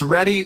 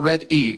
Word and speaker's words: Ready: Ready, pronounced ready or red-E.